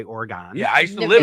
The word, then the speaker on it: Oregon: suburb up here uh is named after the state of Oregon but we say Oregon yeah I used to